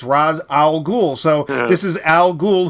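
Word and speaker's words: Ra's al Ghul: G G yeah well but it's Raaz ra apostrophe eser it's like oh raah like the sun god it's Ra's al ghoul so this is Al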